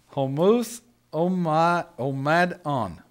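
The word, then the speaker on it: ὁμοθυμαδόν: And the Greek word for one accord is homouth omadon. I think that's how you pronounce it. I'm not for sure, but Charlie's our Greek scholar here. Anyway, you spell it H-O-M-O. T-H-U-M-A-D-O-N. Homothumadon, I would guess would be how you would pronounce it.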